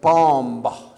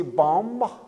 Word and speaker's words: bomb: Like bomb. Do you say bomb or do you just say bomb?